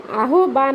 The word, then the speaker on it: আহ্বান: উচ্চারণটা ও এর মত আমরা আহবান বলবো না। আহবান বললে কিন্তু উচ্চারণটা ভুল হবে। আহবান অ এর উচ্চারণ ওকারের উচ্চারণ হবে। ঠিক আছে?